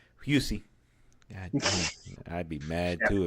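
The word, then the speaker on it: Hussey: by the beautiful Olivia hussy husy God I'd be mad too if that was you know you know even if it is pronounced husy even if it is pronounced hussy please say husy yes H because the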